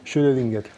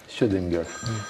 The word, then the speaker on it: Schrödinger: ¿Cómo se pronuncia? Schrödinger. Schrödinger. Está el gato de Schrödinger.